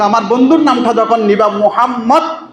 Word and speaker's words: মোহাম্মদ: বন্ধুর নামটা যখন নিবা মোহাম্মদ মোহাম্মদ এই শব্দটা যখন তুমি উচ্চারণ করবা তখন তোমার মুখটা বন্ধ হয়ে যাবে মিলে যাবে উপরের টোটের সাথে নিচের টোট মিলে যাবে।